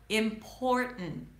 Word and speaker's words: important: Are you making that mistake saying impertinent instead of important? If so, let me know in the comments. Impor, important, important.